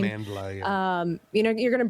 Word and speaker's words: Amandla: nother generation of Amandla, is that how you pronounce her name? Amandla, yeah.